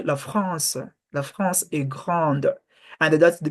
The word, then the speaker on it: France: the the r pronunciation the r you do not pronounce it like in English you pronounce it on your throat like you don't say the La France La France La France